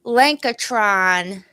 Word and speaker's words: Lankatron: all right ready let's go so welcome lenka Tron hello hello like a shrine am i pronouncing this correctly blanker try yes you are